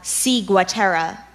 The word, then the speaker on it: ciguatera: are there any other implementations I just have C Gua Tara C go Tara C I G you a